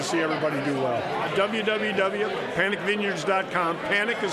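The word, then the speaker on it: Panek: Panic is spelled P-A-N-E-K.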